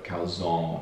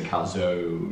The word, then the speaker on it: calzone: accent i'm like yeah i think it's a short o calzone rather than we would say calzone yeah prosciutchio that can't